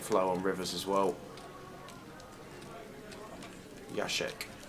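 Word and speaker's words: Yachek: Yashek. Yek. I like that. Thank you very much. Hercules PTP is pronounced Yek.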